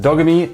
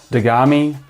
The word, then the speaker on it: Dogami: talking nft games and today we're talking about dogamy now dogamy is going to introduce the world to the pedoverse and you should know that it is pronounced dogamy not dagami which is what i first thought dogami sounds